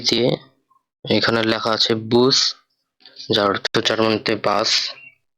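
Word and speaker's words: Bus: Next ওয়ার্ডটা বে দিয়ে, এখানে লেখা আছে বুস যার অর্থ জার্মানিতে বাস। এটার উচ্চারণ হবে বে, উ, এস, বুস। জার্মানিতে বাসকে বুস বলা হয়।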